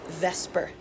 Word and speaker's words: VSEPR: model that we call the acronym Vsepr we can pronounce as Vesper and it says that